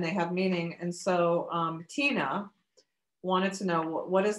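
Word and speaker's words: Tynne: And so Tina wanted to know what is the power of her name?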